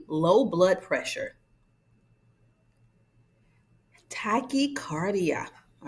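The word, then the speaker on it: tachycardia: Tachicardia. All right. And pronounce that word with me.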